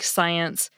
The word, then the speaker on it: science: So yes, the C of SC is what we usually call a silent letter in the case of words like science and scent.